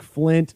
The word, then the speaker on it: Flynt: Thank you so much and for your listeners, it's spelled Flynt, because a lot of people will look for Flint, but it's Flynt.